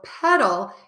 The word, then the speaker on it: pedal: to spell it paddle so petal you can see my mouth is more closed and my tongue is between my top and my bottom teeth it's just peeking out petal for pastel my